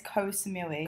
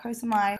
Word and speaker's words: Koh Samui: on saying it wrong but it's koh samui koh samui not kosumai ko's movie this is